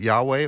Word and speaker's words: Yahweh: And so whether you pronounce it Yahweh or Jehovah, that's where we get